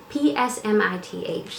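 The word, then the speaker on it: Psmith: The P, you see, is silent, and he put it there himself. If you ever have occasion to write me, would you mind sticking a P at the beginning of the name? P-S-M-I-T-H. See?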